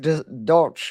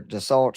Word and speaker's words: Dulcich: Greg Dulcich or Dulcich, however you say his name. Dulcich, 2,500.